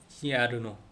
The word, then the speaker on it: yerno: 근데 y하고 모음이 되면 이응하고 지읒하고 중간 발음, 요, 요, 죠, 죠, 죠, y요, 나, 요, 요, giarno, giarno, giarno. 사위란 뜻이래요. yerno, giarno.